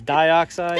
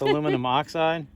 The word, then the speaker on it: aluminum oxide: um this aluminum oxide which i kept mispronouncing the last time as dioxide it's aluminum oxide will kill the grass